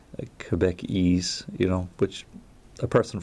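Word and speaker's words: Québécois: pronouncing that even right quebec across q-u-e-b-c and ois quebecois so quebec ease you know which a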